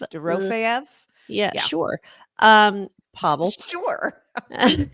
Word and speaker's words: Dorofeyev: pronounce We're Pavel. good enough friends. We can call him by his first D- name. Dorofeyev. Dorofeyev.